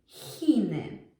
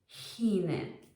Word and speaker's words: Chiny: Choinka, Chiny. Choinka, Chiny. It's pronounced just like a normal H, so that's quite easy.